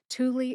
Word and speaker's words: Thule: Thule is spelled Thule, Thule.